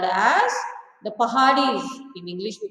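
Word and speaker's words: पहाड़ी: Actually, the word is pronounced as Pahadis. Pahadis in the sense people who survive on the hills, people who survive on the mountains. They are called as Pahadis. But in English, we pronounce or we say it as Paharis.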